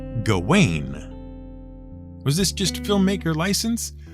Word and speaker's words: Gawain: about that in fact when we first heard it pronounced on screen we weren't entirely sure who was being addressed to our ears it sounded like Garwin even though for years we thought the proper pronunciation was gain was this just filmmaker